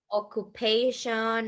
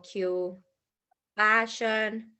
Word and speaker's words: occupation: what's his occupation okay listen to the pronunciation of that word occupations it's not occupation or or Q passion no occupation okay okay thanks perfect